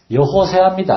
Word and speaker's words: 여호수아: 그런데 여호수아라는 말은 여호수아가 아니라 정확한 히브리어 발음은 여호세아입니다.